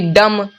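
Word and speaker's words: dumb: डी यू एम बी डम डम देखिए यहां पे एम है यहां पे बी है एम पहले है उसके बाद बी है तो म का उच्चारण हुआ है ना कि बी का एम का उच्चारण हुआ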